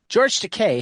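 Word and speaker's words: George Takei: It rhymes with Teay. From George Teay, Steven Scott, Justin Eisinger, and Harmony Becker. George Teay has shown the world many faces.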